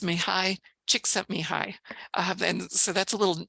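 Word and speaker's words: Csikszentmihalyi: a c um and if you just say the words chick sent me hi you'll get it correct I had a a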